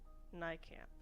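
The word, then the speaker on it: Nijkamp: How do I pronounce your name? I'm very sorry. I really like your book, though. Nycamp. It's Nike. Oh, jeez. Marika Nycamp.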